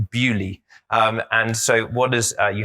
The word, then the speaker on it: Bewdley: if anyone's been here you might think it's pronounced earlier it is not it is pronounced bewdley and so what does